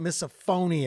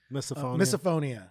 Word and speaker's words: misophonia: doing well is that did I say it correctly miss a phone eeeh like you miss a phone it's like you missed yeah you missed something or misophonia yeah and could you